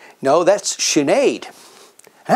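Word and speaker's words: Sinéad: no and that's siobhan how about this one sin head no that's sinead and how about this one anne ko me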